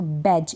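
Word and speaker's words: badge: बाद जी है ना तो बैज इसको पढ़ेंगे बेज यानी डी को हम पढ़ेंगे ही नहीं जी रहेगा इसमें साइलेंट बज क्या पढ़ेंगे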